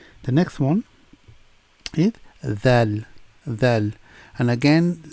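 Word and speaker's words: ذال: Dhal. And again, when you pronounce the letter dhal, put your tongue between your teeth and say dhal.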